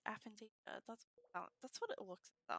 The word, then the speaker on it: aphantasia: I almost want to say alpha, but it's not. It's like aphantasia.